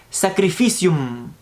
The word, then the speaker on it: sacrificium: Interesantemente, este término de Eucaristía o de sacrificio, como se llamaba, viene de la palabra en latín, que en latín se pronuncia sacrificium.